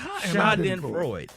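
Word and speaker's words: Schadenfreude: it it it's it's it's phonetically spelled out for you how to pronounce it but that's nothing none of sh Freud it's three syllables sh in Freud every week coworkers get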